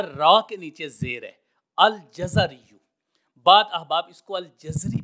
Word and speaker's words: الجزری: ہیں الجزری بفتحتین، فرماتے ہیں کہ جزر یعنی جیم اور زا دونوں کے اوپر فتح آئے گا۔ اب اس حوالے سے امام سمعانی اور امام جلال الدین سیوطی رحمہ اللہ نے اس کا یہی تلفظ بتایا ہے الجزری۔ اب یہ دیکھتے ہیں